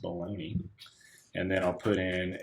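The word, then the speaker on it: Bologna: fake name figaro bolog-nah it's actually pronounced baloney and then I'll put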